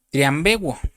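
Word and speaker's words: θριαμβεύω: El apóstol Pablo se refiere en una palabra eh cuando dice aquí triunfando en el versículo 15, perdón, usa una palabra griega que se pronuncia triambuo.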